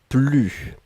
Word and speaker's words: plus: Et là, on ne prononce pas le s. Ne plus.